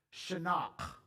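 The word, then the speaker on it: חנך: from the Hebrew word Shak I didn't just clear my throat that's how you say it Shak you really kind of got to growl why don't you turn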